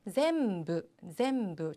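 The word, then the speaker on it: 全部: 자, 두 번째는 전부인데 전부는 약간 발음이 어려워요. 그래서 어려워하시는 분들 많은데 zem부. 자, 이 제 발음 좀 주의하시고요.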